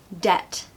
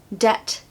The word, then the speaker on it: debt: know why it's silent number three debt debt silent B did you know that pesky silent B no one wants to